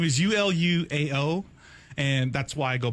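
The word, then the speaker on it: Uluao: my first name is ULU AO and that's why I go by so okay how do you pronounce it so the way you pronounce it is ulua ulua and then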